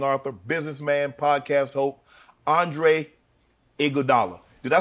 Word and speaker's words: Iguodala: My father would know how to say his name. He would say Iguodala. Iguodala. But my mother would say Iguodala. But I think I know where my pops from, so. So you would go with the Iguodala. Iguodala is the proper way, but Iguodala is easier.